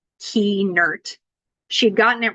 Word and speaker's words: Kuehnert: maybe because when I taught her how to pronounce it key nert she'd gotten it right